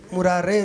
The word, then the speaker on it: मुरारे: मुरारी का बहुवचन में मुरारे रूप बनता है। इसलिए शुद्ध उच्चारण यही है कि मुरारे बोलना चाहिए।